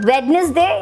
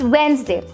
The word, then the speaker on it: Wednesday: For example, it's not Wednesday, it's Wednesday.